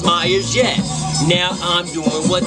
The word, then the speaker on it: Myers: who can't spell it how it's pronounced is Myers yet now I'm doing